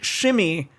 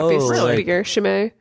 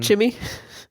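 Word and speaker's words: Chimay: a shames no but c h i m a y is the name of a Belgian like tra shim yeah is that how it's pronounced yeah what you think like Kim or something shimmy no I assumed it was a c thing that's really how I would pronounce it Shimmy Shimmy Shimmy well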